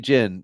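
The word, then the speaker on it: Ginn: promoted and JT jyn I'm going with Jin Ry yeah gin is the common pronunciation but it it could be jyn if the night is right so we've got four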